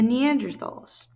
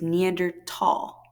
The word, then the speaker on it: Neanderthal: talinis these are the Neanderthals okay from what I understand the correct pronunciation pronunciation is neander tall like tall not Neanderthal with the th sound okay so here's a